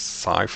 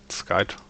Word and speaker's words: scythe: I still always have to remember that it is scythe and not Skype.